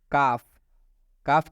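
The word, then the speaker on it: calf: Simple rule है कि जब भी एफ से पहले एल आता है तो एल साइलेंट हो जाता है, मतलब एल का उच्चारण नहीं करना है।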